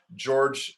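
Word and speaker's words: Georges: of the proto-fascist tendency, George Sorel, and it's spelled where it's George. It looks like George's, but it's Yeah.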